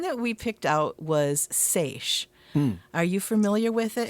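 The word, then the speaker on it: seiche: So, the one that we picked out was SA. Are you familiar with it? And for those who aren't, it's spelled s e i c h e.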